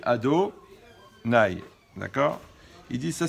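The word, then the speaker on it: Adonai: lit donc on prononce quand on voit le nom de la chaîne ont dit ado nay d'accord il dit ça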